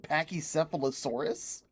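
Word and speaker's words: Pachycephalosaurus: These dinosaurs are called pachy sephilosaurus and their whole thing Did you just pronounce the ch and pachy sephilosaurus?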